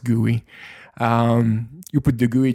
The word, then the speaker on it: GUI: for the gooey I it's call it GUI uh I think it's pronounced guoy um you put the